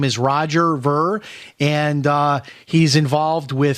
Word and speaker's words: Ver: sir thanks for having me Jim am I pronouncing your last name correctly is it Roger ver is that right that's just fine okay close